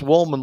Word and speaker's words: Wollman: Things happen in prison, Hey, Bill, it's Woolman, like the Woolman rink in Central Park.